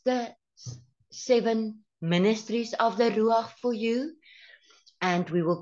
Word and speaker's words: Ruach: to tell you about the meaning of the rues in Hebrew we know that the word r